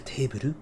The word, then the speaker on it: Teberu: Ça vient de table, qui en katakana sera prononcé Teberu. Et du coup, ça s'appelle Teberu parce que c'est une